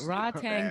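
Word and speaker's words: Rodtang: Rod Tang Jit Mungo. Like, R-O-D. yo. Yeah, Rod as in like Rodney, Tang as in Pootie Tang, correct?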